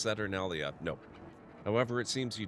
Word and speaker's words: Saturnalia: I thought until I read that for myself that you had mispronounced Saturnalia.